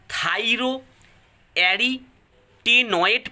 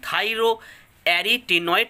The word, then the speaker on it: থাইরো অ্যারিটেনয়েড: উত্তর, মানুষের স্বরতন্ত্রীদ্বয়ের স্থিতিস্থাপকতা নিয়ন্ত্রণ করে, উচ্চারণটা ভালো করে দেখো, থাইরো অ্যারিটেনয়েড পেশি। আরেকবার বলছি দেখো, থয়াকার হস্যই রয়কার, থাইরো অয়জপাল্লা আকার হচ্ছে অ্যারি টয় একার, অ্যারিটেনয়েড পেশি, থাইরো অ্যারিটেনয়েড পেশি।